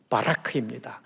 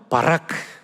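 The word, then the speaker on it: ברך: 영원히 주의 이름을 송축하리이다 하다라는 히브리어는 바라크 한번 따라해 보실까요 바라크 거의 신대운 수준으로 발음해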